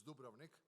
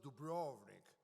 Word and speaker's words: Dubrovnik: Well, everybody, I have to agree, everybody pronounces it Dubrovnik, which, we get mad. But anyway, if somebody would say Dubai, it's not Dubai, it's Dubai. So it's not Dubrovnik, it's Dubrovnik. But anyway, I am happy